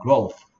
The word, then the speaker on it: growth: th가 쓰 소리 됩니다. growth.